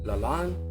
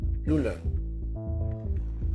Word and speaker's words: Lalanne: Al nacer en los Estados Unidos, su apellido ser de origen francés, adquiere 3 pronunciaciones. La primera, inglesa, LaLanne, y las 2 últimas, francesas, LaLanne o LaLanne.